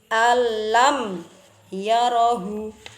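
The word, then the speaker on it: أن لم يره: Nah, jadi bacanya alam yarahu, alam yarahu, alam yarahu.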